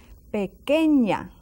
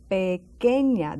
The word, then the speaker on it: pequeña: And one that changes, and we have seen it before, is pequeña. Now let's watch this. Pequeña, that Q and that U together. Pequeña, that U is silent.